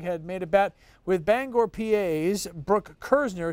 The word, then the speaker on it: Bangor: made a bet with Bangor PAS Brooke Kerzner it's actually pronounced Bangor out in Pennsylvania and if the New